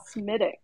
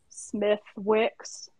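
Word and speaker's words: Smithwick's: Some people in the United States would call Smittix Smith Wicks, but it's Smittix.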